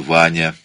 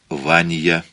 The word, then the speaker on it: Ваня: К разряду первых, к его беспредельному огорчению, принадлежал его родной сын Ваня, Ванья, в произношении отца.